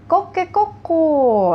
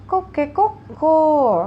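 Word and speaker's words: コケコッコー: Lalu yang berikutnya ada koke koko ya, koke koko, kira-kira seperti itu bacanya.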